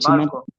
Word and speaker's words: Panchimalco: Y en Castilla decimos Panchima. Panchimalco. panchimalco, vea. No ha cambiado nada.